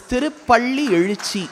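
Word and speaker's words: திருப்பள்ளியெழுச்சி: Those of them who claim to support the Tamil language will find it tough to pronounce. It is Tirupalli Ezhuchi.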